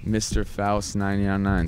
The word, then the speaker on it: MrFaust999: go by the DJ name Mr F 999 Mr fa 999 spell that out m r f a u s